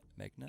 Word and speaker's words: Meghna: It's Meghna, right? Is how you pronounce it, Meghna.